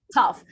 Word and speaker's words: tough: left you see that it ends with GH but we pronounce it like an F so laugh I'm laughing